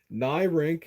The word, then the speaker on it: Neyrinck: So it is called the Nyrink, and that's spelled Neyrinck.